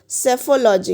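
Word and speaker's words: psephology: तो study of election trends is called सेफोलॉजी. इसमें P silent होता है.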